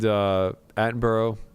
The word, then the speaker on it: Attenborough: Hey, he ran it, and Attenborough. Am I pronouncing his last name right?